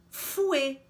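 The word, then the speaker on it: fouet: deve ter notado então o te final a gente não pronuncia porque geralmente as consoantes finais em francês não são pronunciadas bom então a gente escreve assim dessa forma e lê fui a próxima palavra importada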